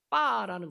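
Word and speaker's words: 八: 왜냐하면 이 8이라는 숫자의 발음이요, 빠라는 것인데, 이게 파치엔이란 돈을 벌다라는 이 파하고 발음이 비슷해요.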